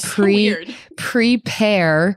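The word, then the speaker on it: PrePear: for social media fans it's called pre prepare but the pair part is spelled like the fruit p a are prepare and the reason that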